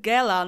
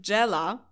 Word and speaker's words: Gella: one on the list I pronounced her name gella not Jella that's the most intuitive right but both gobs and gos are pronounced with a G sound so I think we